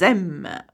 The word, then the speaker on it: aiment: It is not an adverb, so we do not pronounce the en at the end.